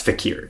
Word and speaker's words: fakir: or the fakers so but that's not how you pronounce it though no it's fakier yeah yeah okay Enter